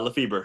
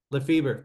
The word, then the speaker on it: Lefeber: lefel or Leber how do you pronounce it uh Leber that's right LEF feber all right if if you want to do